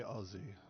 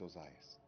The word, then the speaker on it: Ozas: It's okay, Aussie. It's it's it's Ozas.